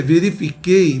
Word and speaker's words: verifiquei: Na C, verifiquei, veja que no QUEI o U não é pronunciado, eu tenho um dígrafo, depois eu só sobro EI.